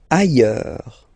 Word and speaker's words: ailleurs: Ailleurs. Look, final S not pronounced, and then you've got this y sound.